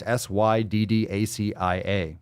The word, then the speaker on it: Syddacia: I would say Sedacia. That's a cool fucking name. Where's that from? Sedacia? It's Syddacia. Fuck, that's a cool name.